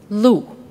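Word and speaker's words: 鹿: pronounce deer in Chinese Lou another word with the same pronunciation means High position in life like Fu show that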